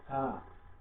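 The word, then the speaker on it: فاء: তারপরে ফা, ফা হলো ফ দিয়ে উচ্চারণ করতে হবে, ফা, ফ দিয়ে উচ্চারণ করতে হবে, ফা।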